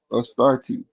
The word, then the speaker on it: Astarte: And other groups in the Near East referred to her as Astarte, pronounced Astarte.